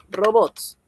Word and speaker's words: robots: Robots. Robots es una palabra aguda. Robots. Palabra aguda.